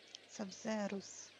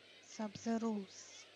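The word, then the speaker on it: Sabzeruz: Сабзерус. Сабзерус. М. В санскрите просто больше читается. Ну, ударение делается как в русском языке. В русском, украинском, белорусском, чем на английский манер.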